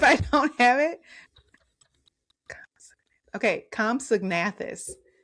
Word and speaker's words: Compsognathus: Compsognathus. Compsognathus is the name of this.